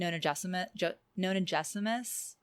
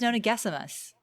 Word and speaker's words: Nonagesimus: I didn't really have much to say about anything except that I've been pronouncing Nonagesimus wrong. Oh my god. It's Nonagesimus. Yeah, but Moira Quirk pronounces it Nonagesimus.